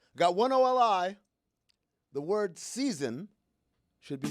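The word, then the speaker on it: SZN: The word season should be spelled S-Z-N. Season. Say it.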